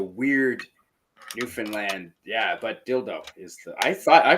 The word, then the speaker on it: Dildo: it's got cities like dildo I'm sure you've heard of dildo that's a city name no I'm not joking it's in Newland it's spelled like dildo and it is Dildo it's dildo Newland it's